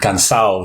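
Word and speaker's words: cansaw: And I was also really surprised by the word cansao there. The way that they pronounce it, which is... I would never have guessed it looking at the spelling.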